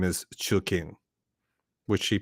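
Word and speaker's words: Choo Kheng: So Her actual first name is Chu King, which she pronounces. She's like, it's easy to say. You say Chu and King, Chu King.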